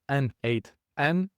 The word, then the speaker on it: N8N: You pronounce it as N8N, and this is short for the Nodemation.